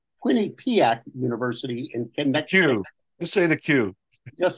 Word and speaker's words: Quinnipiac: Quinnipiac University in Connecticut.